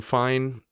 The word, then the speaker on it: FIFINE: And side note, yeah, I know it's spelled FiFine, but it's supposed to be pronounced fine.